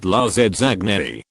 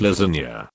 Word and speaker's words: lasagna: I would intentionally mispronounce lasagna all the time in front of my brother, pronouncing it lasagne.